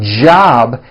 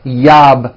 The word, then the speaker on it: job: voiced judge like that for you Spanish speakers whenever you see the letter J in English it always makes this sound it's never a Y sound never so for example the word job has a at the beginning job it's never yob my yob it's always my job with a strong J sound job my job like that